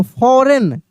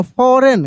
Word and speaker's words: foreign: FOREIGN, तो फॉरेन, जी का उच्चारण नहीं होगा, फॉरेन।